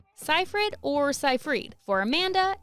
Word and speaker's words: Seyfried: I'm like, it's Seyfried. She's like, it's Seyfried. And I was like, no one says Seyfried, it's Seyfried.